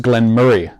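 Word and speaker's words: Glen Moray: do that okay oh so we're told it's pronounced glenn murray glenn murray not glenn yes so forgive my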